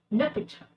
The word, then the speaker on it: l'hôpital: And in French, it is pronounced as l'hôpital.